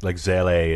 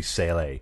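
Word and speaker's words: Seele: Like Zele is with a Z now. It used to be Sele. Mm-hmm. But now it's Zele.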